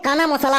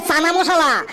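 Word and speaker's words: chana masala: এল এ এটা তাহলে কানা মসালা হবে কি সাংঘাতিক রে এইখানে আর কানা মসালা হবে না এইখানে হবে চানা মসালা এইখানে সিএইচ এ ক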